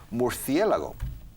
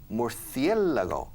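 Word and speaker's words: murciélago: yes all right now murcielago okay the stress falls on the e more the lago so you need to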